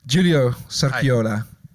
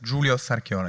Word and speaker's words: Giulio Sarchiola: Giulio Sarchiola. Do I pronounce it correctly? Yes, Giulio Sarchiola, yes, it's correct.